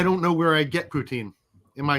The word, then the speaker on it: poutine: rudy uh i don't know where i get poutine am i saying it right yeah yeah i